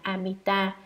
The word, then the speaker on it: Amita: Chữ A-di-đà nguyên tiếng Ấn Độ đọc là Amita, dịch ra chữ Hán là vô lượng, tức là nhiều nghĩa lắm, chẳng thể nào nói hết được.